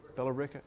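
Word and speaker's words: Billerica: this his grandfather richard was in is it pronounced bellarica massachusetts belarica okay was in belarica massachusetts at least as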